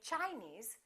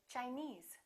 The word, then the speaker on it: Chinese: some rules regarding suffixes if the word ends with e s e we stress the suffix for example chinese we don't say chinese we say chinese japanese portuguese all right